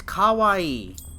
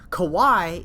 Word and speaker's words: kawaii: but you know when people say kawaii for cute um no it's kawaii and the two reasons why it upsets me one kawaii in japanese means scared so it's a different word to kawaii rhymes with hawaii you can say it